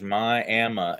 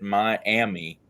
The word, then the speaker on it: Miami: an Indian tribe's name and it is myam and if you come to myam and pronounce it Miami they will run you out of town they will run you